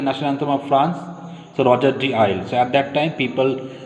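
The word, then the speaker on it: Rouget de Lisle: Pronunciation you try to understand. Roger de Isle, Isle, Isle, Roger de Isle.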